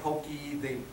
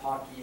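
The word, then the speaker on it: Poky: This sort of lays out the big, so there's this thing, it looks like Pokey, I've heard people pronounce it Pocky, I don't know why, but, you know, BitBake, it's a whole new world of build systems.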